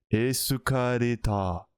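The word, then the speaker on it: エスカレーター: Et pour le coup là c'est ce que je te dis pour escalator du coup ça se prononce c'est escaleta.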